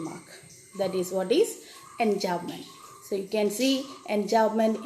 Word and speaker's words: enjambment: B is silent. Enjambment. Enjambment.